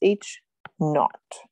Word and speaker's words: H naught: got a little zero there i'm going to spell that for you so you can see that word is h naught okay and that is the baseline assumption the